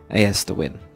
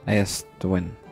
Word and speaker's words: Aerstwyn: build a Celtic Village as to win I think that's how I'm going to pronounce it as to win I guess but um yeah so